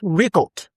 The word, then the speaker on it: record: We have record. Record. As a noun, re-cord. Re-cord. The first stress pattern rest on the first syllable.